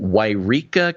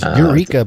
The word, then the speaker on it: Yreka: I thought it was Eureka, but I guess it's no, there's Yreka. 2 different spots. I know, it's confusing. There's Eureka, California, spelled with an E, and there's one called Yreka, California. Different town.